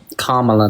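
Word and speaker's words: Kamala: I don't know how to say Kamla.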